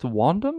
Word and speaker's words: wandum: name is tony b and i'm here with wandam i think am i pronouncing that right absolutely correct hello tony p